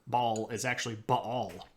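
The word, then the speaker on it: Baal: the glory of Bal if you grew up in a Southern Baptist Church it's pronounced Bale which is not accurate but moving along um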